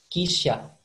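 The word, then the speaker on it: 汽車: Kalau di bahasa Jepang, cara bacanya kisha.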